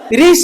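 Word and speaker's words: ऋक्ष: कर सकते हैं, साइनस्व, रीक्ष बोल देते हैं, वो क्या है, आकर्षण बिंदु, हिंदी में देखो कितना, अबे वृक्ष नहीं है, रीक्ष, वृक्ष बोले तो पेड़ हो जाओगे आप, ठीक है ना।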